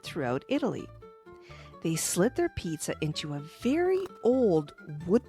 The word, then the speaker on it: Pisa: It's not pizza. It's pizza. The name of a town. It sounds like pizza, but it's spelled P I S A.